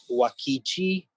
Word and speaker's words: Uakti: one of my favorite bands that I've discovered, and of course they don't exist anymore, is a Brazilian group called Wakichi, which is spelled Uakti.